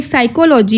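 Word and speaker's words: psychology: पी क्या है साइकोलॉजी यहां पे साइकोलॉजी में पी जो है साइलेंट है लिखने में पी नहीं आएगा सॉरी पी आएगा लिखने में बट पढ़ने में पी नहीं आएगा बोला जाएगा इसको साइकोल जी क्यू का कोई भी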